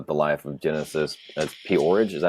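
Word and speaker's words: P-Orridge: life of Genesis as Poridge. Is that how you pronounce her name? I think so. Yeah. Because it spelled like porridge, but I it has the apostrophe, so I say porridge.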